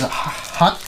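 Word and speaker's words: Huk: Okay, first item is Huck. I know it's pronounced Huck. I'm calling it Huck. It's H-U-K. That's English for you. I know why they pronounce themselves Hook, because Hook was probably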